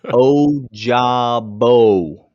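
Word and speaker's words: Ojabo: a comment and i proved my point it's oh jabo is how you say it oh like the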